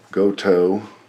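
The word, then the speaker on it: Gotoh: the headstock hardware um we have ourselves some goto that's how you pronounce it uh sg38 tuners don't know what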